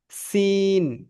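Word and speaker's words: س: এটা হচ্ছে সিন, যেটা পাতলা উচ্চারণ হয়, সিন।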